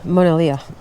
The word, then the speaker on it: Monadhliath: Monadhliath, not the TH.